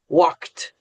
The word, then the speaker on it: walked: past is actually pronounced walked. Yeah. So yeah, try that out yourself. You're going to have to say the K and the T.